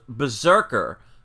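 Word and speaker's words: BRZRKR: It's called Berserker, but it's spelled B as in boy, R as in Robert, Z as in zebra, R as in Robert, K as in king, R as in Robert.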